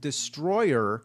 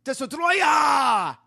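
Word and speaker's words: Destoroyah: The name of the monster, surprisingly, isn't Destroyer, it's DESTROYAH! Yeah, that's the official name, DESTROYAH!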